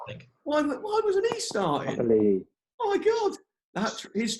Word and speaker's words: Papali'i: I'm going to try and pronounce Papaili, right? Is that right? Yeah. Papali'i, I think. Why wasn't he starting? Papali'i.